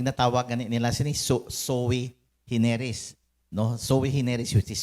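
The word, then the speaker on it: sui generis: special proceeding ang natawagan nila soe hineris no soe hineris which is spelled as su i su i g e n E risaning to say one of its kind.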